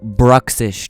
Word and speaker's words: Bruxish: It's called Bruxish. Do you hear me? Bruxish. I can't even pronounce it.